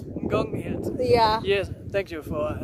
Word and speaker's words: Ngong Hills: Up the, how do you pronounce these mountains? Ngong Hills. Ngong Hills.